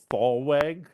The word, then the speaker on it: thalweg: and there's a word called thw is that how you pronounce it? Yeah, I had never seen that word.